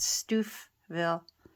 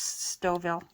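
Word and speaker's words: Stouffville: from me I know it looks like it should be pronounced Stu Ville but uh if you live around here that's stoil here's a little bit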